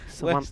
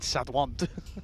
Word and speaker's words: Sawant: Where's the where's the Sat and the Dwant? Sawant. That's how you say it. Trust me, Sawant. Yeah, but that's not what you said. Sawant. You said Sadwant. Satwant is another way of saying it.